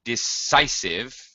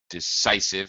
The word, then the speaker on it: decisive: Okay, but Javier, decisive, just a couple pronunciation notes. Decisive, it's an S and a long I.